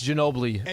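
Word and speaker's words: Ginóbili: an island of History it's Manu Ginobili it's Ginobili like have to swim to the other end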